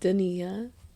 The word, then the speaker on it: Dania: First off, I'm Dania, and I'm your host, and it's pronounced Dania, and it's spelled Dania.